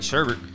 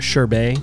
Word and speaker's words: sherbet: God well I like sheret sheret is not ice cream that's what everyone says and I don't buy that like it's pretty much ice cre it's pronounced sherbet sh sorry all right